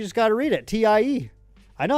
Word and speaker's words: TIE: This idiot doesn't even know it's pronounced Tai. No, it's spelled out right there, buddy. You just got to read it. Tie.